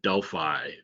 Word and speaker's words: Delphi: Like I said, mostly gets pronounced Delphi in the US, Delphi everywhere else. Either's fine.